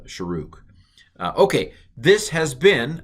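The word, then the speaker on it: shuruk: is a long uh you pronounced the the uh sharok okay and i realize that looks like it's shrek but um some of these some of these uh vowels are pronounced different differently by different people i'm going to pronounce this as uh sharook uh okay this has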